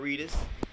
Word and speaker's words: Reedus: Looking at all the cameras, I'm interviewing the actress-preneur, Shakira Reedus. Did I pronounce that right?